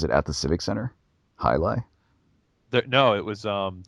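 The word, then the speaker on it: jai alai: yeah j'ai a la I ok but it's pronounced hot hi lie yeah so that that's the thing if you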